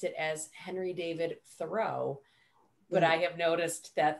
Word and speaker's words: Thoreau: we know that his name was jean thoreau or jean tarrou but when you're in boston in an english city in 1773 you don't really want to have a french name and so we think that that's about the time that he anglicized it to john thorough he did not change